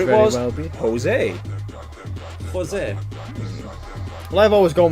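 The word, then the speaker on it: José: For me, it's always Jose.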